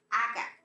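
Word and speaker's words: aga': For example, the word aga, banana. If it is spelled a-ge-a glota. If the glota is not there, it would be aga. But with the glota, it emphasizes the sound, which makes it louder.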